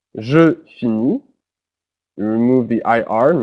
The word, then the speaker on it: finis: So notice how they're all pronounced the same way because the T and the S are not pronounced.